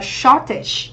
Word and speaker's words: shortage: Và cuối cùng ở đáp án D thì chúng ta có danh từ trọng âm 1, có nghĩa sự thiếu hụt, mình đọc là shortage, đúng không?